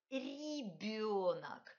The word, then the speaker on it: ребенок: Premier ri est palatalisé, c'est pas r, c'est ri, ri, ri. Et d, deuxième consonne, d est palatalisé aussi, de. Il faut prononcer de manière très délicate.